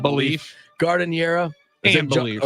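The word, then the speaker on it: giardiniera: Gardeniera. And beliefs. Or is it Jardiniera, John? That's the right way to pronounce it.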